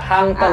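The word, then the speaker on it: Hang Ten: Ini bacanya Hangten.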